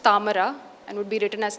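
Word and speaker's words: താമര: So a word like lotus in Malayalam would be pronounced tamara and would be written as ta plus ma plus ra in the script.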